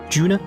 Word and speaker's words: Juna: toa and juna because that's her name right tuna so i pronounce it juna with a g so you know case